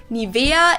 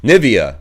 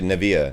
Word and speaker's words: Nivea: of products nowadays again i find the english pronunciation pretty funny nivea it's nivea i would always say neville neville or nivea or nivea or nevaeh uh naive naivea like i've heard so many different people pronounce it wrong i pronounced it wrong